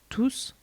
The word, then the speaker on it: tous: In pronoun tous, the S is never silent and always pronounced like CCD or double S.